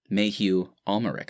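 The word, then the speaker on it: Mathieu Amalric: more for the actor mayhew ulmeric i believe is how you pronounce it he'll be getting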